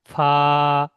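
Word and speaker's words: ف: ঠোঁট দিয়ে হবে না ফা উচ্চারণ হবে উপরে যে দুটো দাঁত আছে উপরের দাঁতটা আর নিচের এই ঠোঁটের এর মাঝখান ফা ফা দুটো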